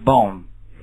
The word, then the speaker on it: bomb: The Holy Office Heretic Conceive Utterly Suffice Nuclear Bomb 这个词不是 bomb 啊这个 b 是不发音